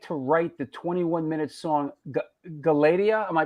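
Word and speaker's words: Galatea: Our resident historian Chucky Brown asks, how long did it take to write the 21-minute song Galatia? Am I pronouncing that right? Galatia.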